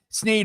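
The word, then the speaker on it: Sneed: Sneeed rhymes with feed and seed.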